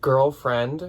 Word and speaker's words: GRLFRND: A Gold, Mother, Madewell, Levi's, Free People, Girlfriend, which is spelled GRLFRND. There's no I's. They don't, for some reason.